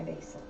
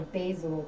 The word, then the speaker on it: basil: buck ninety-nine so that's how i buy my basil or basil depending on who you are and how you say it god i love the